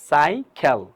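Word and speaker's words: cycle: ওয়াই সি এলই মানে সাই খেল সাইখেল right তার মানে প্রথম সির উচ্চারণ হচ্ছে সি পরবর্তী সির উচ্চারণ হচ্ছে আমাদের গি খ সাইখেল ফাইন তাহলে আমরা এটা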